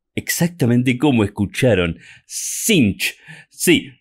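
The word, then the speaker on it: Tzeentch: caos sench no es sench se dice sinch exactamente como escucharon sinch sí ni siquiera se pronuncia la t y las dos e se pronuncian como una letra i y es un error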